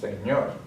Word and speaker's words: señor: Next one ends with a consonant, so the accent is going to be, the stress is going to be on the last syllable, señor.